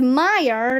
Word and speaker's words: Meyer: you said mrs meyer it will be easy to remember my name because meyer rhymes with fire that's funny said mr